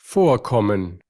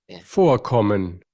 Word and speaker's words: Vorkommen: Que ya habíamos visto que cuando escribimos una palabra con V se cambia por F. Y es, digamos, la regla de la consonante F.